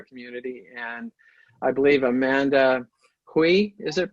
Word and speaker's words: Hui: And I believe Amanda Hui, is it pronounced?